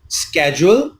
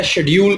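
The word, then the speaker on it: schedule: Table कहा जाता है, जबकि अमेरिकन इंग्लिश में स्केड्यूल या शेड्यूल कहा जाता है। स्केड्यूल या शेड्यूल दोनों ही प्रोनाउंसिएशन सही हैं।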